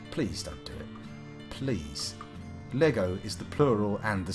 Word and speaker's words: Lego: Although any uh people out there pronouncing Lego as Legos, you must also apologize because that is offensively wrong.